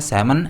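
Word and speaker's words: salmon: I wandered if they have any सैमन, इसका pronunciation है सैमन, L silent होता है इसमें।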